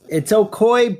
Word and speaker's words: Ocoee: It's Ocoee, but you spell it like Ocoee.